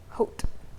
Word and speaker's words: Haute: Haute. Because that's how they say Terre Haute.